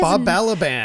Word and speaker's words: Balaban: Bob Balaban. Bob Baliban.